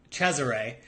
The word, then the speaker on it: Cesare: does mean Charles and in Sicilian it's actually pronounced Cesare so uh yeah it's felt a little differently as CES ar.e I don't know anybody